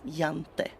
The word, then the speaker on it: Jante: The law of jante. Yeah, it's spelled with a J, but it's pronounced with a Y, jante.